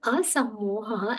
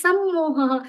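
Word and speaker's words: असम्मोह: That word asammoha actually becomes sammoha. So it becomes exactly opposite of what Shri Krishna intends to tell us.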